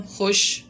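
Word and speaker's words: خوش: उसके बाद देखिए खुश, तो वाव है ना, लेकिन पढ़ते हैं हम खुश।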